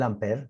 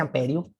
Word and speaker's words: ampere: El ampere, se usa nada. No se dice amperio.